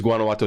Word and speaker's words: Guanajuato: your your proclivity not to be able to pronounce uh Guanajuato silver it is Guanajuato silver we named it after a very famous